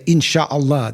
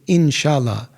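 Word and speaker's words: inşallah: They do say inshallah, but they don't say insha'Allah. They say inshallah.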